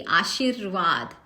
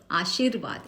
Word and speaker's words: आशीर्वाद: वैसे ही आशीर्वाद, व के ऊपर र की मात्राएं, रफार जिसे हम कहते हैं, वो हम पहले नीचे लेंगे, आशीर्वाद, आशीर्वाद, इस तरह से हम उसको उच्चारण करेंगे।